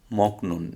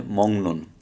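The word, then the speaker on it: 먹는: মক নুন, মিয়ম মিয়ম গিয়ক মক, নিউন নিউন নুন, মক নুন। যে গিয়কের পরে নিউন আসার কারণে এটা গিয়কটার উচ্চারণটা অনুসার হবে। তাহলে কি হবে? মংনুন, মংনুন, মংনুন অর্থ হচ্ছে খাবার।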